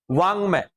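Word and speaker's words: वाङ्मय: वांगमय। अब समझ लो क्या उच्चारण निकल रहा है। वांगमय। तो जो निकल रहा है वाक्यवाद वही इसका सही उच्चारण है।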